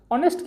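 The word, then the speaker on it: honest: ना कि उसका लेटर जैसे ऑनेस्ट में यहां पर एच है आपका साइलेंट यह साउंड ओ से स्टार्ट होता है अर्थात य वाल साउंड से स्टार्ट होता है इसलिए हमने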